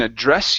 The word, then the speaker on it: address: the noun yeah and so we put the stress at the end but there's two ways to use this as well so I can address you meaning I'm speaking to you so I addressed the crowd meaning I turned and I spoke to the crowd okay to address them okay but also on on an envelope yeah so we we address the envelop so the stress goes at the very end okay so um when